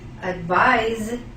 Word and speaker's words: advise: let's hear it again advise advice the estão has in fact a Z the S letter has the sound of Z advice could you please